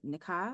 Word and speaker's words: Nikah: And talking about extremes, I'm thinking of the story, I believe it's the Nikah. Is that how you pronounce it?